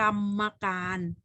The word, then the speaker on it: กรรมการ: ตัว สะกด นั้น ๆ ตัว อย่าง เช่น คำ ว่า กรรมการ อ่าน ว่า กรรมการ ดู ตัว อย่าง ตรง นี้